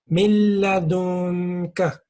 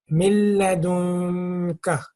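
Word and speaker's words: من لدنك: If there is a lam or a ra, this noon becomes silent. It's not pronounced.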